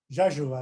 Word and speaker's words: Rzeszów: And when we landed in Warsaw and then took a flight to Rzeszów, Rzeszów, as they pronounce it, which is right across in the Polish border.